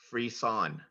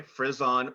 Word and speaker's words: frisson: Your word has two correct pronunciations. Freeze-on, freeze-on. Can you please repeat the word? Yes, freeze-on. Sorry, frizz-on or freeze-on.